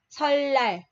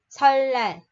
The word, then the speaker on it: 설날: Chữ R làm bạch chim khi gặp chữ N phía sau, thì chữ N phía sau này đọc là L. Nên mình sẽ đọc là 설날, 설날.